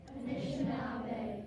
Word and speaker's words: Anishinaabe: This is Anishinaabe. Can all of you say Anishinaabe? Anishinaabe.